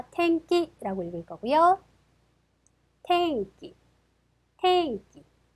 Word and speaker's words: 天気: 자, 아, 天気라고 읽을 거고요.